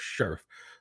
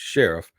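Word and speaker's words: Scherff: I thought it was Sheriff, but it's not. It's Sheriff.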